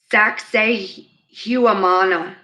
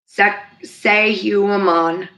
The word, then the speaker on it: Sacsayhuaman: know how to say this one such as Sacsayhuaman in Peru it's si si si y hu am aan Sacsayhuaman in Peru the temple of Jupiter and Lebanon